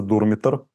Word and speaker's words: Дурмитор: раз национальный парк дурмитор я специально проверил как на какой слог правильно ставить ударение оказывается дурмитор а горы прекрасные Я посмотрел